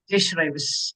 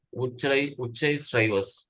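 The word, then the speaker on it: உச்சைஸ்ரவஸ்: அது ப்ரொனவுன்ஸ் பண்ணுவோம் தெரிஞ்சு ஒரு நிமிஷம். ஜெய் ஸ்ரைவஸ். உச்சை ஸ்ரைவஸ்.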